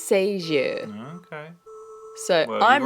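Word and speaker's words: Sagée: Now, every other person I've heard read or do any kind of information on this girl says Sager, but I looked up the French pronunciation and it's Sager.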